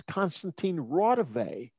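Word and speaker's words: Konstantīns Raudive: This is not, he pronounced it wrong. It's Constantine Rodive.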